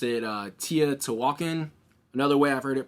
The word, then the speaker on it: Teotihuacan: I'm gonna butcher this because I haven't pronounced it in about 10 minutes now. Teotihuacan.